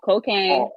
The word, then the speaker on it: Kocaine: It's just like it's spelled right here, right? Mm-hmm. No dots, no nothing, right? It's Kocaine.with a 3. So Kocaine, Kocaine dot.